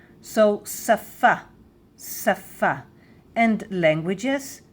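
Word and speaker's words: שָׂפָה: On the right it says that it is a sh but on the left it says that we pronounce it s like sin s. So safa saf and languages safot safot safot saf safot.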